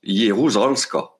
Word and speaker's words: Jeruzalska: Et ça se prononce Jeruzalska.